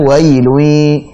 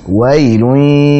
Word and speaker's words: وَيْل: kata minasyaita atau pada wailui. Tadi berulang kali ya. Jadi syai jangan syaita atau syai, tapi syaita. Kemudian wai jangan wailu, tapi wailun yaumain.